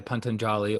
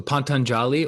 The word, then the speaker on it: Patanjali: by pantonjali or um there's different ways that they pronounce his name i'm trying to think of the other way i've been so accustomed to the other way of saying it now patanjali so pantanjali or patanjali wrote the yoga sutras